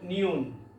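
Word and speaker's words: 니은: গিউক বাংলা হলো গটা হলো নিউন নিউন বাংলা হলো ন এটা মিউম মিউ ওম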